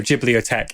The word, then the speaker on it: Ghibliotheque: with the Spanish Edition so jiot is spelled like bibliotech so t h e q at the end so bit of a French pun but for the Spanish